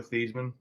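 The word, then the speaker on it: Theismann: campaign year for Heisman they changed it to Theisman because it rhymed with Heisman but before that he always went by Joe theeman oh I never knew that his actual pronunciation is Joe thieman yeah it was before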